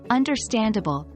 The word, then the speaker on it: understandable: For example, in the word understandable, the primary stress is on the second syllable, der, and the secondary stress is on the last syllable, ble, understand able.